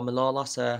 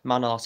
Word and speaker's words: Manolas: a few times is Kostas Manolas, or Manolas, however you pronounce it. I think it's Kostas Manolas, I say it like that, but some say Manolas.